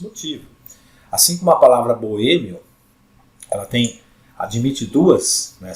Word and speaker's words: boêmio: A vogal I sai mais fraquinha, né? Aqui ó, na pronúncia, e a vogal O vai lá para cima na pronúncia, ela sai mais forte, né?